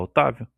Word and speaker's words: Octávio: Na próxima vez que fizeram, por exemplo, nome Otávio, Octávio, o C é mudo. Você fala Otávio. Nem, é como se não existisse.